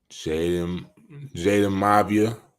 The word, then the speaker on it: Jaden Mavia: Jaden Mavia.